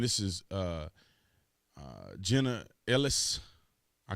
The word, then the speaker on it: Ellis: Miss Ellis that's how you say her name Ellis had to say president Trump's attorney and former